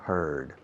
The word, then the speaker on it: heard: heard, and lately I've heard. Every day he hears, yesterday he heard, and lately he's heard. Es curioso. Hear, escrito ear con H al principio, con añadirle una D, se cambia la pronunciación.